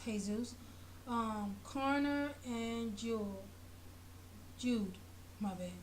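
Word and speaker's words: Jesús: The characters are Callie, Lena, Stephen, Brandon, Mike, Marilena, Jesus, but it's called Jesus, but in Spanish it's pronounced Jesus.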